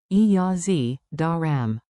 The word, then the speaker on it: اجازه دارم: Chunk it like music. E-ja-ze da-ram. Permission plus I have. Tip, E-J's sounds like a jaw says, a jaw that always asks first.